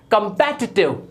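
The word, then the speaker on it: competitive: Next है हमारा कॉम्पिटिटिव। हर कोई बोलता है कॉम्पिटिटिव, जबकि ये होता है कंपेटिटिव।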